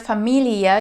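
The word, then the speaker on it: Familie: like for example and with the word Familia you want to make sure that you pronounce every single letter very often I hear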